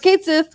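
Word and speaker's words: Cait Sith: And then they're just like, it's pronounced Kate Sith on Twitter.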